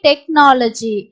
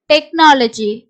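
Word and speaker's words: technology: echo H வந்து silent அதே மாதிரி டெக்னாலஜி டெக்னாலஜி இதுலயும் உங்களுக்கு சிட சவுண்ட் தான் இக்னு வருது ஹச் ஓட சவுண்ட் வந்து சைலென்ட் இப்போ சிச் லேயே நம்ம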